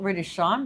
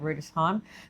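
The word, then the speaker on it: Rüdesheim: It's spelt Rudesheim, but I think you say it Rudesheim, the home of Riesling wine in Germany.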